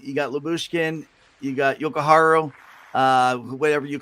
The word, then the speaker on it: Jokiharju: Jokiharju.